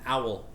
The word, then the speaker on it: AOL: stuff yeah it's an owl they call it an owl account it's spelled AOL but for some reason they call it that it's nice it's lutopia